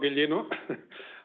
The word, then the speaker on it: Ghiglino: hello hello everyone yes my name is Gino I I I pronounce it correctly I'm here to present the